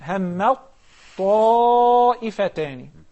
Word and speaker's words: همت طائفتان: So when we merge the first and the second, we will only pronounce the second with the characteristics of the second. همت طائفتان.